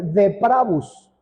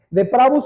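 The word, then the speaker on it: depravus: una palabra latina o proviene de una palabra latina eh cuya pronunciación es deabus deabus es una palabra compuesta por dos d que es un prefijo que significa completamente y pravus que significa torcido básicamente entonces de pravus significa completamente torcido correcto no es difícil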